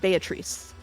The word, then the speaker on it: Beatrice: will say that uh the Japanese pronunciation is based on Italian pronunciation which I checked ahead of time and is Beatrice be bee bee without